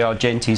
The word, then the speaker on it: Argenti: Yes, you did get the pronunciation right. It is the Argenti system, and it's the strategic planning system used by the likes of NAB, Wesfarmers, and indeed Silverchef in Australia.